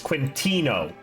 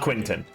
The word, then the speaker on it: Quintino: Regardless, Quintino Posandi is you got his name wrong. It's Quintino, not Quinton.